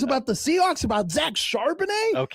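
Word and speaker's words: Charbonnet: Running back Zack uh Carbonet, that's how you say it right. Charbanet. Charbanet. Excuse me.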